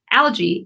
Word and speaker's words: algae: Algae versus algae. I just keep saying it wrong. So it kind of depends on like what side of the pond you're on. Like if you're in, the British say it different than Americans typically. And okay, I didn't realize that. And I flip flop. So yeah, algae. You can say both.